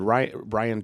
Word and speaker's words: Rian: I think it's Rian is how you pronounce it.